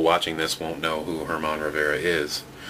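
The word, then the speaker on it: Germán Rivera: this won't know who Herman Rivera is. I guess it could be German Rivera as well, but that's pretty rare that it's actually pronounced the way it's spelled. Roy Howell, as you can see, another checklist.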